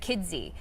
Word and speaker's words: Kidsy: I just want to pronounce that D so you don't miss it. Kidsy.